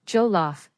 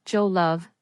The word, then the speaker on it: jollof: The pronunciation is jollof, not jolove.